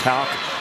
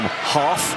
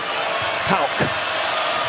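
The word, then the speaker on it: Haugh: Call him Hoff, Hawk, Houff, Hug, and Hag. And his name is Houck. Which does warrant an explanation since there's no K in the last name.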